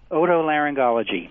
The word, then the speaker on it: otolaryngology: How do you pronounce that very long word? Otolaryngology. That's what I thought. All right. Otolaryngology.